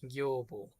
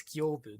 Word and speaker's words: Gyobu: Gyobo. Gyobu. No, that's Gyobu. That's how you pronounce that.